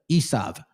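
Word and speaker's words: עשו: derived their name from Esau which is pronounced as Isav in modern Hebrew.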